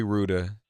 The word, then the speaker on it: Rouda: house that's right Rudin forgive me I forgot I've I've been mispronouncing your name but but Ruda calm and as he